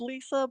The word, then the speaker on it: Risa: Uh as Marty mentioned uh it's pronounced Lisa but it is spelled with an R.